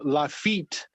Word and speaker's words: Lafayette: uh his name is lafayette but a lot of people they the english speakers they pronounce his name la fete and what is the